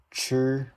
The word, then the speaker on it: chi: Chi is how you say. You can think of the word like China. So this is chi, shi, like shut down, shi, zhi, chi, shi.